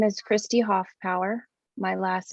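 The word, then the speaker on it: Hoffpauer: it in the record my name is christy hoff power my last name is spelled h o h-o-f-f-p-a-u-e-r i'm one of 11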